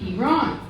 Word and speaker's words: Iran: name of the country, Iran. So if you pronounced it correctly, which is Iran, you were against the war.